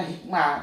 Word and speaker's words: hikmat: Enggak pakai sebetulnya hikmah, tapi tulisannya hikmat ya sudah. Seperti syahadat tuh harusnya bacanya syahadah. Ya.